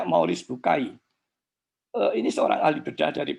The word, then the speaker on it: Maurice Bucaille: Membacanya Maurice Bucaille.